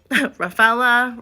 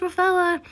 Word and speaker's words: Raphaela: having a hard name raphaela rafaela rafaela raphael the ninja turtle no it's it's just raphaela i go to starbucks